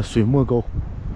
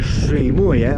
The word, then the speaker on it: 水磨岩: 啊，人间其实水墨岩啊，我给念成沟了，叫水墨岩，千年水